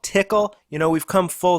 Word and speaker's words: Tcl: and Nifty scripting language it's also called tickle you know we've come